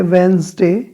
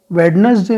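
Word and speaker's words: Wednesday: video जिस ठीक है यह वेनसडे वेडनेसडे नहीं होता है वह इससे होता है यहां पर साइलेंट रहता है ठीक है थे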